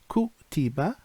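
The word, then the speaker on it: كُتِبَ: But then it can also be pronounced like kutiba, which is it was written.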